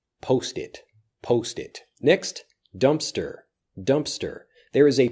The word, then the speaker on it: Dumpster: but it basically disappears dumpster dumpster dumpster often when we don't say the sound of a letter in a word we still leave that slight pause dumpster dumpster dumpster dumpster